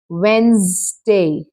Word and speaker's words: Wednesday: You don't pronounce E. It's simply Wednesday.